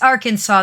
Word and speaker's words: Arkansas: Well, it's Illinois, but no, that's not it's Arkansas. That That's the S at the end.